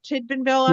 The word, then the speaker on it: Tidbinbilla: Mike then moved to the Canberra Deep Space Tracking Station, and I'm going to probably mispronounce this, in Tidbinbilla, part of, did I get it right? Tidbinbilla?